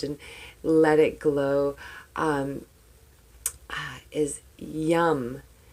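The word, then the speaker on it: yam: it glow is yum yes technically I know it's spelled a Y a M however English English whatever it's a sound it's vibration so I like the fact that it's your heart chakra so I say yum why you am yum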